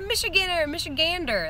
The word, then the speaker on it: Michigander: Oh, we got a Michigander.